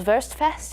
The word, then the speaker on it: Wurstfest: New Braunfels Wurstfest is happening last weekend.